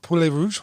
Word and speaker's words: poulet rouge: Poulet rouge?